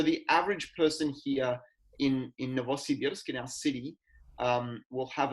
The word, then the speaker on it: Novosibirsk: Yeah, we're in a city called Novosibirsk, which means New Siberia. Novosibirsk. That's how you sort of remember how to pronounce it.